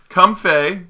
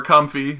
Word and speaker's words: Comfey: Comfey, or Comfy, as I call it. I'm pretty sure it's like both pronunciations are fucking fine.